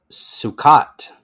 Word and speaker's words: Sukkot: be mispronouncing this, but we have the Jewish Sukkot. Yes, you most assuredly are Wait, let me try mispronouncing again. that word. That is Sukkot.